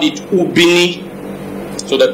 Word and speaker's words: Ubini: So they named it Ubini.